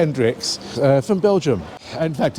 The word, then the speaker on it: Hendrickx: are quite a few famous ice skaters called Hrix from Belgium. In fact, it's spelled H E N D R I C Kx.